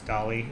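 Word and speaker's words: DALL-E: Dolly I don't know it's spelled like Wally but it's Dolly and it uh it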